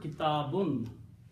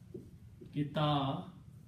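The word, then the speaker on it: كِتَابٌ: So when I'm speaking this word kitabun, what is it actually sounding? It is sounding like kitabun. That's the sound of the book, the word. When you pronounce two dhammas, kitabun, that's how you're pronouncing it. You're putting a noon at the end.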